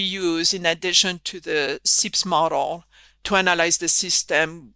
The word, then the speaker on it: SEIPS: Yes, Pascale Carayon is saying it's SEIPS.